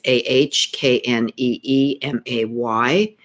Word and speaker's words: anime: Japanese anime is really phonetically, it's Ahkneemay.